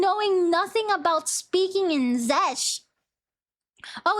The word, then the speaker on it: Czech: Check. Oh, okay. You pronounce it as check.